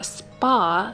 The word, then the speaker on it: Spah: It's absolutely beautiful, and it's from the Spa set, which is spelled S-B-A-H.